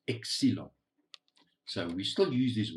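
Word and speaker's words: ξύλον: is the other word the other word is pronounced excelon so we still use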